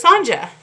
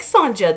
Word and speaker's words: Sanja: funny story so oh you actually pronounced the j so it's sanja i kind of like sanja though is that how